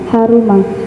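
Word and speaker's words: حَرُمَ: Yang pertama tadi kamu bacanya maning takodo wudhuuhu haroma atau haruma? Haruma. Hah? Haruma. Haruma itu berarti sulasi mujarad yang bab ke yang berwazan fa'ula.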